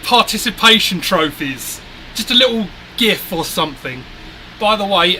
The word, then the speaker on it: GIF: By the way, anyone wondering, it is GIF. Those little animated things are gifs. Whoever calls them gifs, please explain why it's a you think it's a like pronounced as a J, a gif, cuz it's a gif.